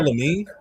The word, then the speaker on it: Lamine: Um, oh, he I would I would say Lamine Yam. Exactly. You don't know Lamine?